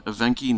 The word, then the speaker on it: Evenki: I pronounce the region Evenki National Okrug.